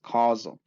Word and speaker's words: causal: might be if you mispronounce it but it's pronounced causal which is basically they're asking you do you